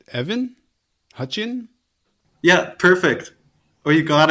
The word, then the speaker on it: Hutcheon: Evan hutchian right Evan Hutchin yeah perfect oh you got it everyone throws like an s in there and says Hutchinson nailed it oh good